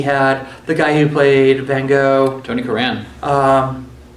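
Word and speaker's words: Van Gogh: the guy who played van go Tony Karan um van goof sorry pronounce it properly just pronounce it with the proper Scottish accent yeah blew me away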